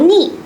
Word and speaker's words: 尿: 那么这个尿呢，它是一个多音字也读溺，溺爱的溺，同时呢它也同那个尿，就是我们